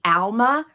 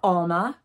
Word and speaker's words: Alma: So the two bags that I want to talk about are the Alma or Alma. It depends on where you're from regionally and how you pronounce it, and the Speedy.